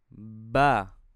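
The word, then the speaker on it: ب: Now, let's move to the next letter, which is Ba. Ba. It looks like a plate shape with a dot underneath. Like the English letter B in the word book, it's exactly the same pronunciation.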